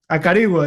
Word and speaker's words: Acarigua: Acarigua is is the correct pronunciation.